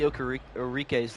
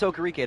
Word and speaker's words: Okereke: Somebody actually told me I was saying Bobby Okerike's name wrong. Now it's Okereke, not Okereke, and that has ruined his name for me.